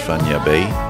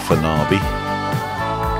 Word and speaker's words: Fañabé: always pronounced actually says so there's an n within you and the e with the accent so it's fanya bay not for nabi or fanabe or fana just think of san francisco bay and you're going to